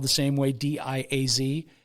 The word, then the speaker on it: Diaz: Of course, most people pronounce that Diaz. But if you're an Iowan, which she was, it's pronounced Diaz. So out of habit, that's where I go. But I know it's probably Diaz, right?